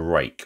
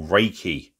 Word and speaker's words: Ruike: the title we've got another rake or reiki um as some people pronounce it okay nicely presented box